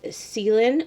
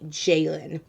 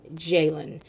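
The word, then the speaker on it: Ceylan: i did it it's her pronunciation of her name is actually jalen so although it's spelled a c-e-y-l-a-n is actually pronounced jalen so i'm very excited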